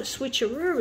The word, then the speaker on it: switcheroo: going to do a switcheroo it rhymes with kangaroo uh let's see we're